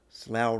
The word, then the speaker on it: Slough: on Slough out night Slough rhymes with cow it means Terror downtime